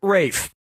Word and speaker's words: Ralph: easy player one yep ray fein's first name is spelled like ralph but pronounced rafe his brother joseph finds